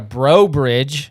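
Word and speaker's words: Breaux Bridge: You got a Bro Bridge.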